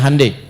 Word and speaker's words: Hyundai: bikin hundai ya ya Hyundai saya tahu bahasanya dibacanya hundai ya Apa saja Jepang masuk